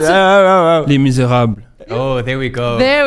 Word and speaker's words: Les Misérables: Oh, Pronounce it. oh. Les Misérables.